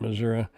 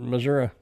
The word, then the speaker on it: Missouri: My mother-in-law pronounces it Missouri. That's the way. That's on. If you're watching old westerns, that's the way they pronounce it, Missouri. I don't know. Kind of like, I guess, tomato and tomato. Which one's right? Guess it depends on where you grew up, and if you